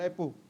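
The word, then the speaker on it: rapport: रेपो with the train शैक्षणिक आर A double P ओ आर टी T silent होता है रेपो रेपो with the industries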